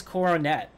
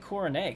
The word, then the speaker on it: Coronet: the cheaters method and it is Coronet by the way you guys are alright because they actually say that in the movie so we're gonna how are you pronouncing it I was saying coronae cuz it looked French like who the [